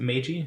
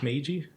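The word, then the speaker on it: Meiji: It's the how do you pronounce it? Miji. Magi.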